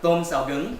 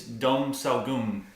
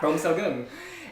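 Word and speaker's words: tôm xào gừng: I believe it's dom sao gung. Okay, that works too. Yeah, tôm sao gung.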